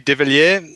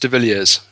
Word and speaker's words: De Villiers: of your last name if we were french it would be devilier but being from south africa it's pronounced de villiers there you go so